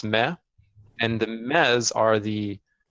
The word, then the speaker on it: me: It's M-E, but it's pronounced Meh.